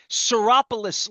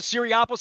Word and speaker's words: Seropolis: I had to learn how to say Seropolis last week when I had Nick Seropolis. I always called him Nick the Greek. I didn't know how to pronounce it. I called it Syriopolis.